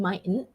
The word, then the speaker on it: mightn't: so it's might might so it might be a silent t it's a glottal one mightn't so here's an example